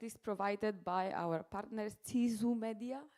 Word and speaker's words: Ceesu Meedia: And the broadcast is provided by our partners, Ceesu Meedia, right? I pronounced it correctly.